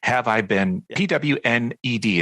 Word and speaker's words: Have I Been Pwned: on it but it's have i been p-w-n-e-d it's basically pronounced have i been pwned and so uh h-i-v